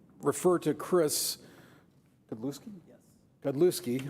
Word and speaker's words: Godlewski: Godlewski. I always say Godlowski, so I always get it wrong. Good Polish pronunciation.